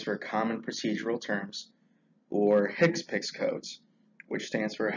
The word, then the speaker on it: HCPCS: common procedural terms or hick piix codes which stands for a healthcare common procedure coding system now I know it's spelled hcpcs but just to ensure you they are called hipic codes whenever a claim is